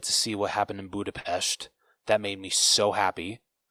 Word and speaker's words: Budapest: Because remember the one guy kept saying Budapest, and she's like, it's Budapest.